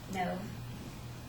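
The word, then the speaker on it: Nev: Um, pretty much in that um whole movie, a man named Nove, that's how you pronounce his name, he falls in love with a fake icon, and he starts talking to her through Facebook.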